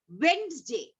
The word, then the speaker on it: Wednesday: Wednesday. Wednesday. WED. But we are not saying Wednesday. It's Wednesday. Okay?